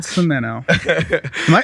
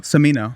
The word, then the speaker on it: Cimino: is so great cemento am i saying your last name you're definitely saying it wrong cimino samito samino there you go see got it welcome